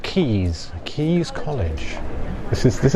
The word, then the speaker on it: Caius: So, yeah, this is um When you read it, it looks like Caius or something, but it's pronounced Keys.